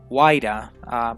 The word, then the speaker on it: Huayra: So yeah, there we have our name, which is Huayra. He said that the H is silent, so I hope I'm pronouncing that right.